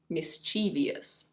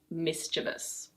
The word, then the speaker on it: mischievous: Lots of people say "mis-chee-vee-ous", but it is, in fact: mischievous. Mischievous.